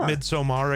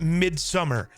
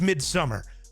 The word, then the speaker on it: Midsommar: Every Swedish character calls it Midsummer. And if you have subtitles on, which I do for everything I watch, it's spelled the same way as the title. But it's Midsummer. Because just because something's spelled a certain way doesn't mean it's said that way, you dumb [ __